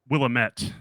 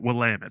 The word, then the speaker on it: Willamette: always call it like Willamette and she's like no it's like damn it but yeah you got to pronounce it Willamette so I'm like okay